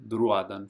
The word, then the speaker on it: Drúadan: And again, you have the accent, so you make that vowel a little longer. Drúadan forest.